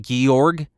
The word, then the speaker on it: Georg: i pronounced that right georg it's like george without an e and that georg neumann